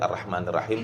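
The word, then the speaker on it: الرحمن الرحيم: Nah, permasalahan yang terjadi juga di pengucapan arrah. Jangan terlalu rnya kita ucapkan seperti huruf O. Karena tidak ada huruf O di dalam huruf bahasa Arab.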